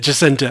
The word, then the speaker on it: Jacinto: You found him saying He it. pronounces it Jacinto. Okay, sorry. It's said different ways in different interviews, and I had not found him saying it.